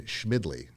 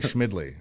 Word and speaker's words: Schmidle: i'm super excited about ryan schmidly correct yeah you said it right all right schmidly all right ryan how